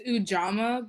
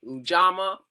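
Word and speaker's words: Ujamaa: me you know I sometimes I think I pronounce the name Garden one so help me Jaylene it's ujama Bronx Community Garden okay ujama Bronx Community Garden so um is a Swahili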